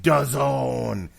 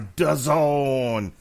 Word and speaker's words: DAZN: What if I said, brought to you by DAZN? It rhymes with end zone. Is that better? No, because now that's actually two words. Brought to you by DAZN. It rhymes with ozone.